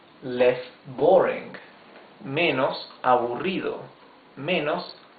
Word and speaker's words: aburrido: You can also say less boring, menos aburrido, menos aburrido. These are 4 syllables. Aburrido. Remember, the double R is the rough sound of the R.